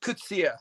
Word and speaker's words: Coetzee: And I hope here in America, and it's pronounced Coetzee. So there you go.